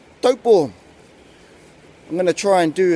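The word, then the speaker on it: Taupō: cup of the day or place name is dough ball yes that's right dope ball I'm gonna try and do as many of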